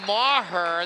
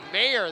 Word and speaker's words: Maher: Selim Maher, the senior. Mayer, they pronounce that.